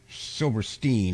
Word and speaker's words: Silverstein: ever heard shell Silverstein Silverstein actually is how he pronounced it yeah silver kind of like Frankenstein you know yes um